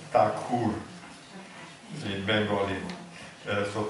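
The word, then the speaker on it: ঠাকুর: quite good but originally it has to be pronounced takur in Bal so takur was the original name from this tagor is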